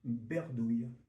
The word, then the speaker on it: bredouille: Bredouille, ce genre de mots-là, B-R-E, bre, se prononcer aussi berdouille. Berdouille.